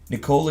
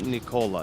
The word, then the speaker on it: Nikola: It is not Nikola, it's Nikola. It's Nikola. Wait. Nikola. You're just faster. Just Nikola.